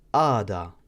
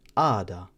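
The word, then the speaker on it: għada: word, we can say ada, which means tomorrow. As you can tell there, I didn't pronounce the G or the H with the little cross going across it, so it just becomes ada, which means tomorrow.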